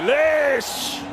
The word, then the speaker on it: Lish: Freddie Lish rhymes with delish, I guess.